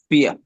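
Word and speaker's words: vier: ये याद रख ले जहां पर वी आएगा इंग्लिश वाला उसकी आवाज इंग्लिश के एफ वाली होगी फिया या फिया फिया और लास्ट पे आर है उसको थोड़ा सा दबा के पढ़ना है साइलेंटली फिया अगर लास्ट पे आर आ रहा है तो उसको आपने ए और आर की मिलतीजुलती आवाज से पढ़ना है आ की तरह फी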